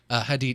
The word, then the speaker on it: Hadid: I always feel like I'm going to get her name wrong every time. Hadid. Hadid.